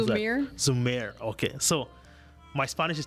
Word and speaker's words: Zhumir: How do you pronounce Zhumir. that? Zhumir.